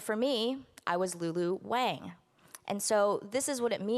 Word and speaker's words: Wang: Because, as I said, for most of my life, I've been saying my own last name wrong.